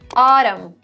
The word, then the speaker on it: autumn: that you can memorize when n comes after m at the end of the word you don't pronounce the n some examples to make this clear autumn damn so it actually